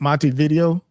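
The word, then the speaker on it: Montevideo: He stated sources of the how you pronounce that mavo. Mont monte video.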